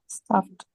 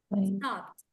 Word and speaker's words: stopped: is it visited visited stopped stopped stopped stopped stopped the T sound stopped stopped uh I